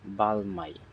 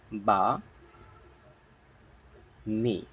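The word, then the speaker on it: balmy: করে থাকি বি এল বাল এম ওয়াই মাই বাল মাই কিন্তু এটা আসলে উচ্চারণ এমন না এর উচ্চারণ কি হবে দেখি তাহলে উচ্চারণ এর উচ্চারণ হবে বা মি বা মি ইটস নট বালমাই এর অর্থ হচ্ছে মৃদু মৃদু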